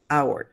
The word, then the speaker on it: hour: J en español, pero en hour la H es muda.